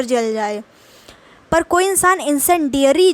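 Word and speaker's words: incendiary: ठीक है, इंसेंडियरी इसका मतलब होता है, देखिए इसको पढ़ तो लेंगे ना आप, इन फिर आपको बोलना है सेन, फिर डैश करके डियरी, इंसेंडियरी। अब इसको एक साथ पढ़ेंगे, इंसेंडियरी।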